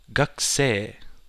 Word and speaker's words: gakusei: You don't say gakusei, but that also leads me into my next part. Gakusei.